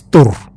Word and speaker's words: Thor: pronouncing these characters as Thor and Odin though those are not the right pronunciations ask a Scandinavian person it is turf that's the right pronunciation of that guy's name so imagine you imagine